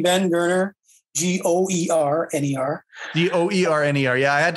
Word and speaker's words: Goerner: right yeah so look up my name ben gerner g-o-e-r-n-e-r d-o-e-r-n-e-r yeah i had to i asked him for his pronunciation just to make sure i had it